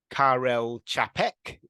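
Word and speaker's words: Karel Čapek: a writer from the Czech Republic called Carell Carell chapek tells you how to pronounce it as well um and and most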